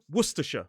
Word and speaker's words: Worcestershire: And I know this lesson would never be complete without me saying worsher.